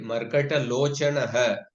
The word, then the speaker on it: मर्कटलोचनः: Actually, say Markatalochanaha. There the visarga is coming at the end of the sentence. So you can distinctly pronounce Markatalochanaha. Yes, yes. But here the visarga is coming in the middle. So this is it will not be distinctly pronounced. It's like an Ardha Visarga.